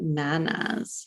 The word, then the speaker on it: Nanas: So I'm flipping through the book looking for a good example of her nanas. Is that how you pronounce it?